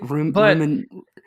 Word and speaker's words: Rummenigge: So right, Rummenigge. That must be it. Like the word Niger, like that country. Yeah, like the country.